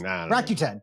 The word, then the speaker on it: Rakuten: Rakuten? I've called it Rakuten, I think. Rakuten. But I don't know. Rakuten. Yeah, that's what it is. Rakuten.